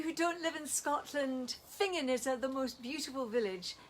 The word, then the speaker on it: Finzean: because they talk about finging in the rain. Yes. Sorry about that. For those of you who don't live in Scotland, Fingin is the most beautiful village in Aberdeenshire, spelt Finzean and pronounced Fingin.